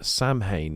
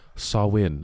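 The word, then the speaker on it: Samhain: its roots in the ancient Celtic Festival of Sam hay a galic word pronounced sawin oh sawin Sam Sam a pagan religious celebration to welcome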